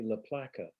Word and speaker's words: La Placa: say it properly because the name is actually la placa which is Sicilian yes uh but because